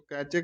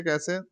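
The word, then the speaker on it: cache: कैचे memory और कैसे memory acts between, इसको कैचे कैसे दोनों प्रोनाउंस होता है, जो ठीक लगे आप लोग बस याद कर लीजिए।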